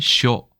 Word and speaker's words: 肖: 자, 일본의 닮을 초자는 중국의 닮을 초자와 똑같이 생겼습니다. 발음은 쇼.